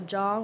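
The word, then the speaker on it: Zhong: Okay, so my Instagram is uh Jong, which is my full name, but it's like my last name is spelled like Z H C N G.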